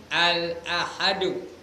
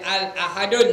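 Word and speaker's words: الأحد: sifatnya al-ahadu al-ahad kalau kalau wakaf al-ahad kalau baca ikut apanya ejaannya al-ahadu jangan baca Al ahadun tak betul kalau ada Al dia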